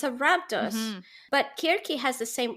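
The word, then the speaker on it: Circe: to call her kierke i want to say please say no i know it's accurate um and i i say that every time i say her name i do like clarify but everyone's in english knows her as cersei so it's just sort of come out that way sure yeah it's interesting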